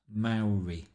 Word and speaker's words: Maori: were curious to see a Maori pronounced Maori the first syllable rhyming with cow and they had not